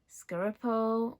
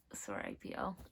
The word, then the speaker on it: Serapio: Scaripo, no, Saripo. He's like my favorite character as well, so why can't I say his name? Separate, wait, I just found it. Serapio.